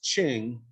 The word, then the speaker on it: Qing: for the then forming manchu empire known as ching which today is spelled for reasons that's still puzzling q-i-n-g but